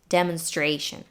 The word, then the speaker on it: demonstration: pronounce it we have a primary stress here on the third syllable stray and a secondary stress on the first syllable de demonstration really cleared up so